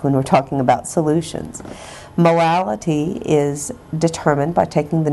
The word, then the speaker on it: molality: with you today is molality. It sounds like I have a speech impediment when I say it, so I will spell it for you.